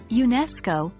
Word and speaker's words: UNESCO: UNESCO as an example in the full phrase United Nations educational scientific and cultural organization the stress falls on the second syllable of educational therefore when we say UNESCO we maintain the stress